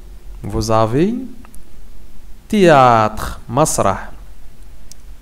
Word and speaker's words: théâtre: ne se prononce pas. On ne prononce pas le H. Vous avez théâtre, masrah.